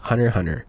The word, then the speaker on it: Hunter x Hunter: shouldn't be and that the x is silent and the series should be pronounced hunter hunter i mean they're literally